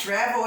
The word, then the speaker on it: travel: Travel é viajar. Por que não dobra? Olha aqui. Travel. Ele não é oxítono. Não é a última sílaba forte. É a penúltima.